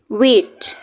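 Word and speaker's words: weight: Next is वेट. वेट के last में भी आप T लगाएंगे, मिस हो गया यहाँ पे. वेट में भी GH की स्पेलिंग साइलेंट है.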